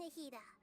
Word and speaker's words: Nahida: Oh yeah, I'm Nahida.